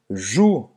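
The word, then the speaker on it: joue: Jus, como Roberta acaba de mostrar, une jus. Essa Uma parte aqui. bochecha. Bochecha. Une jus. Então, não vai pronunciar o E no final. E o OU, como sempre, tem o som de U.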